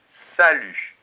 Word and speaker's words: salut: pu très bien et attention la lettre t final ne se prononcent pas et ça c'est très